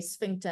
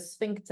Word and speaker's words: sphincter: awkward for people my my lecturer would say spinter and everyone would giggle in the back of the class because she would pronounce swinter instead of sphincter and it was just